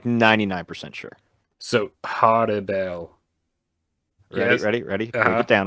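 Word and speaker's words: Harribel: Yeah, so I always thought it was Harry Bell, or it's almost like a Halle Bell. Like, did you see how I kind of like almost like rolled the L's? That's kind of how it's supposed to be pronounced.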